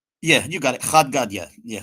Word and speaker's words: Chad Gadya: Chad Gadya. Yeah, Chad Gadya it's an Aramaic song.